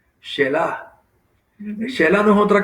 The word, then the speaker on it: Selah: a tal punto que se introduce una palabra que muchas veces nos preguntamos qué significa, y es la palabra, se escribe Selah, Shelah.